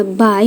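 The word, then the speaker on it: bye: And then, ini kenapa tetap dibacanya by walaupun akhirnya y, akhirnya e, karena dalam bahasa Inggris itu huruf e nggak dibaca ya sayang ya. Jadi yang dibacanya huruf y-nya aja. Anggap aja dia cuma ada dua huruf di sini. Dan memang kalau dua huruf b dan y aja kan kita tetap bacanya by ya.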